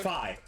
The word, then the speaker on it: Phi: I didn't actually know if it was pronounced Fee or Phi. It's pronounced Phi. I always said it was Fee. Shit. Oh, it's pronounced Phi because it is Damn it. a letter of a certain alphabet.